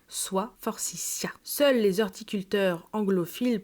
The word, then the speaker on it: forsythia: Comme le rappelle le dictionnaire La rousse universelle de 1923, la prononciation finale se fait en s forcia.